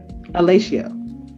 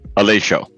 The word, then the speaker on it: Aleixo: How do you pronounce it? It's Aleixo. Aleixo. No, Aleixo. Aleixo? There you go. Aleixo. You got it. Uh-huh. Okay, what language? It's Portuguese.